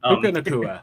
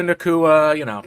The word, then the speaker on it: Puka Nacua: course, the new wide receiver that I can't pronounce his name, and I'm not going to try right now. Puka Nacua. That's the guy. It's like Yeah, there Hakuna you go. Matata, Puka Nacua, same thing.